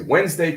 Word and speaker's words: Wednesday: So we say Wednesday, chocolate. Those are examples of very clear elision where we take out a sound.